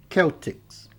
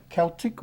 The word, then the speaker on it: Celtic: Aqui eu tenho a palavra Celtic, né? Que é o povo celta, mas eu posso também dizer Celtics, ou seja, o povo celta, né? Celtic or Celtic.